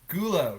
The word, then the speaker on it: Gulo: Gulo.